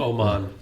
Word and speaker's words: Oman: but pretty cool we picked up Omen which is a country near uh Yemen what what country Omen Omen Oman Oman it's spelled o-m-e-n but whatever I said that when